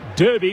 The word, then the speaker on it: Derby: Kevin Bloody Wilson said it's pronounced Derby because that's how it's spelled great call fellas from